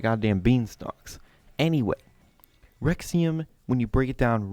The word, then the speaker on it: Rexouium: The Rexouium. Yes, that's how it's said. It's spelled very weird, but whatever.